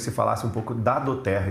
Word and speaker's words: doTERRA: E esse nome, por incrível que pareça, a pronúncia ele até parece no português, né? Mas é latim. Do terra significa presente da terra, mas é uma empresa